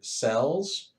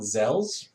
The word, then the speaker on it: XEL: enemy, you absorb their cells. Technically, it's spelled XEL, but I refuse to call it zels or X cells or whatever. They're they're cells.